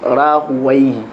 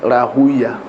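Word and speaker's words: Rahawayh: al-Lugha said Ishaq bin Rahuwayhi. Rahuwayhi. But ulama al-Hadith said Rahuya. Like the ulama al-Lugha say Sibawayhi. Yeah, but the ulama al-Hadith said Sibuya.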